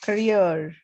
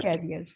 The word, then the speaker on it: career: career. Career. Career. Career option. Okay. It's not Okay. carrier, it's career.